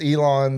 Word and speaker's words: Elon: Oh, you mean like Elon, not Elon Musk? No. It's Elon, the Elon University.